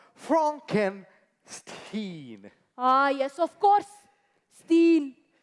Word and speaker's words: Frankenstein: That's a Frankenstein. My name is pronounced Frankenstein.